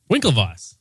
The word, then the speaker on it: Winklevoss: Winklevoss. It is the Winkl. Bam. Got it. Oh, see I was saying it with the German W pronunciation.